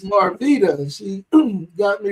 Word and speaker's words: Marveta: I had to ask her how to pronounce her name because I was getting ready to call her Marveta, but it's Marveta.